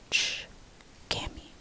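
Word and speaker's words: çkemi: That ch sound basically makes this, which is a ch, watch, catch, ch, and that's how you start. Ch, kemi, chkemi. So the way that you want to rephrase this, or the way that you want to repeat this, that's what I meant, repeat this, is by ch. Remember, catch, watch, ch, kemi, K-E-M-I, kemi, chkemi.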